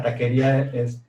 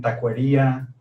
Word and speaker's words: taquería: O la misma marca, la taquería dicen tacuería, o sea, tacuería, o sea, no jala.